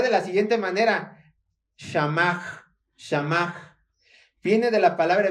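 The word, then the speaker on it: שמר: Se pronunciaría de la siguiente manera. Shamach, Shamach.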